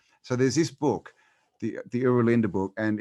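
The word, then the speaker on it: Oera Linda: Yeah, and then there's a book called the Uralinda book. I'm not sure if you've heard of it. No, I haven't. It's spelled Oeralinda book, and it's from it's an ancient Frisian book.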